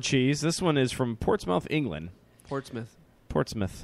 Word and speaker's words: Portsmouth: This one is from Portsmouth, England. Portsmouth. Portsmouth. Not mouth. It's mouth. Jesus. It's spelled mouth.